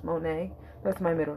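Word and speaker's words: Monie: M-O-N-I-E. It's pronounced Monet.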